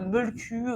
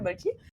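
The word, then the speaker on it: Mölkky: Alors oui, je sais, c'est censé se prononcer un Molku ou quelque chose comme ça, mais bon, je ne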